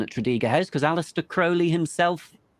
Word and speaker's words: Crowley: follower of his and it is pronounced Crowley as in the dark Crow not Crowley and I look and